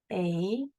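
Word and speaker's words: eight: A, silent GH, 8. The number 8 is spelled like this. We hear an A in the front, 8.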